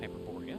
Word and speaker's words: Hyperborea: nor you'd go with hyperboria but that is probably closer you pronounce all the vowels in Greek also by the way